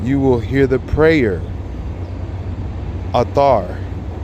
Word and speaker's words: Athar: Athar. Prayer is Athar. A-T-H-A-R. Athar. Like Arthur.